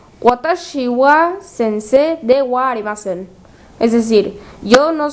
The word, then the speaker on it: sensei: Sense se escribe sensei, pero se pronuncia sense.